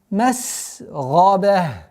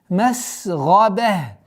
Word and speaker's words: مسغبة: Зи масгаба. Масгаба. Га твердый звук, гайн твердый звук. И мы с мягкого на твердый и спускаемся на мягкий. Масгаба.